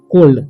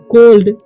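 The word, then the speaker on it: cold: का ड हो जाएगा तो क ओल ड कोल्ड क्या हो जाएगा कोल्ड पता ही होगा कोल्ड मतलब क्या होता है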